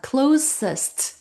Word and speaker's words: closest: 가깝다는 말을 영어로 close s운드 넣어 줍니다. 그래서 closest 하고 읽어 줘야 돼요.